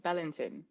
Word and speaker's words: Bellanton: Bellanton.